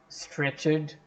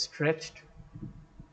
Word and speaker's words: stretched: Don't make a mistake with the word stretched. It's not stretched, it's stretched. It's a monosyllabic word.